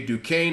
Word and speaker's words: Duquesne: West Virginia is playing Duquesne AKA Duquesne as you you actually do pronounce it um they should win